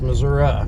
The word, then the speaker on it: Missouri: hardly ever do it is it missouri or missouri it's missouri if you say it right if you're in south